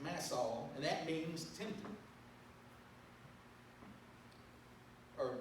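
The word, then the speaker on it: Massah: simply mean just that massa or actually the correct pronunciation for what i looked up is mass saul it's mass all and that means tempting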